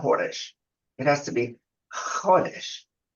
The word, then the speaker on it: Chodesh: Like, okay, see, it has to be said like that. It's not Chodesh, which is Cha. You have to say Chodesh. Okay, Israelis, that's how they say it.